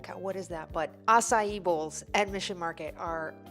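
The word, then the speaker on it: açaí: you remember when you didn't know how to pronounce asai I do it was like aai a what is that but assai bowls at Mission market are fantastic the peon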